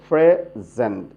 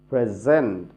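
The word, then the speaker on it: present: First সিলেবলটি stress দেব, প্রেজেন্ট, gen slow করে উচ্চারণ করব, সফট করে। কিন্তু যদি উপহার দেওয়া অর্থাৎ ভার্ব হয়, তাহলে উচ্চারণ করব প্রেজেন্ট, প্রেজেন্ট। Second সিলেবলটি high stress দেব।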